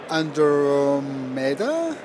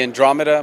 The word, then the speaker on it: Andromeda: have a new light this is actually the under meda mark ii did i pronounce it right yeah the andromeda mark ii oh man i guess you have